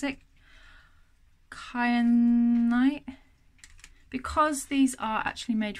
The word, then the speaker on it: kyanite: But that one there, that how do you pronounce it? Kyanite.